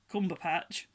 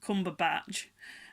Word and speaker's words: Cumberbatch: I always call him Cumberpatch. It's because we call him Benedict Cucumber Patch. That's how I always say to my sons what I call him. Cumberbatch. I can never say it right anymore.